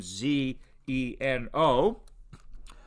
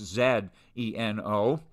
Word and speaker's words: Zeno: So I don't mind if you pronounce him Zeno, as we would in the US, or Zeno, as we would in Canada or the UK, just like zebra and zebra, it refers to the same animal.